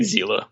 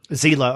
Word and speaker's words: Zella: There's the Cobalt Flame, and then there's Zella. Is that how you pronounce it? Which is Alex backwards. Yeah, I mean, I've been saying Zila. Zila. Okay, so Zila.